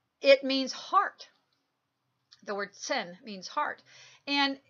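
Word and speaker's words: 心: And the one of the symbol on the left-hand side is called Sin, okay, and it's literally pronounced sin, in the beginning of it, and it's X-I-N.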